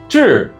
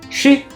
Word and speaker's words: 至: It's pronounced zhi in Mandarin or shi in Japanese.